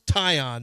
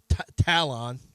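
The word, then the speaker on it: Taillon: to pronounce his name it's tyion not tal Talon uh how much does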